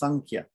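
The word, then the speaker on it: सांख्य: but normally it's pronounced sankia okay so that's an example of an anishwara and the way it's pronounced is flavored by the kh this is the letter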